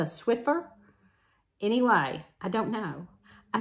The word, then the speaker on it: Swiffer: I think I said Swifter, and it's a Swiffer.